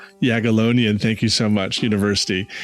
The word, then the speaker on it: Jagiellonian: at Yag How do I pronounce that university name? Jagiellonian. Jagiellonian, thank you so much, University in Krakow, Poland.